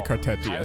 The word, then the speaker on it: Cartethyia: Now, by the way, her pronunciation, if it's Chinese, it should be Cartia. But I think I've searched on Reddit to see how how do you actually pronounce her? People say Cartetia, so I'll stick I'll stick with that. And this is adorable idol animation.